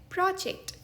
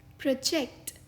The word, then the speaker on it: project: पहला उच्चारण है प्रोजेक्ट, यानी कोई ऐसा योजनाबद्ध काम जो किसी विशेष उद्देश्य के लिए किया जा रहा है। For example, I am working on my business प्रोजेक्ट। इस शब्द का दूसरा उच्चारण है प्रोजेक्ट, यानी आगे बढ़ना।